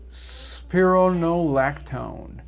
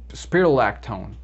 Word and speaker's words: spironolactone: is aldactone all right so why wasn't saying it wrong because i was saying spirolactone espirolactona and it has an n on there spironolactone espironolactone so this is